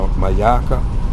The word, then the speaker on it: Myakka: Myakka Forest Reserve, and that's the Myakka, and it's spelled M-Y-A-K-K-A.